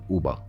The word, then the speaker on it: Uibo: Okay, I know you know Miller-Uibo, but it's Uba. That's what they say.